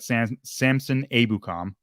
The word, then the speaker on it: Samson Ebukam: But then on the other side, you got Samson Ebukam, is how you say it.